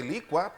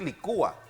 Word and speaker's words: licúa: así Yo sí se licua para mí era normal y natural decir licua di que no se dice licúa yo bueno se pueden decir de las dos formas di que no es